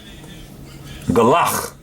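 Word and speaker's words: גלח: And the word, as you can see, is galach. All right, this is how you say it in the modern Hebrew.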